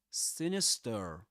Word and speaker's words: sinister: Now let's play the American the US pronunciation. Sinister. Sinister. Sinister. Sinister. Do you notice the final R? Sinister.